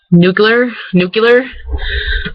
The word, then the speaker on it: nuclear: Or, like, nuclear, like, it's supposed to be pronounced like nuclear, which I don't ever say. I say nuclear. That's how I always say it, and I guess that's